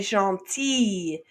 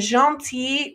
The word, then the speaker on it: gentille: It's still pronounced pretty much the same. Il est gentil, elle est gentille.